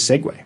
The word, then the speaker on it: segue: that into Google translate it says segue it's not a Segway even though it's spelled